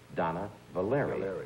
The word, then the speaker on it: Dana Valery: You'd think you'd say Donna, right? Yeah, Valery, but it's not. It's Donna Valery, right?